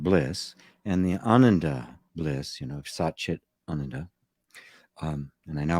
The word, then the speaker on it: Satchit Ananda: and the word bliss, and the ananda bliss, Satchit Ananda. And I now pronounce it correctly, thanks to an Indian friend of mine who pointed out the right way to pronounce it.